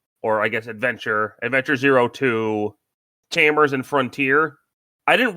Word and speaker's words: 02: It's pronounced 02.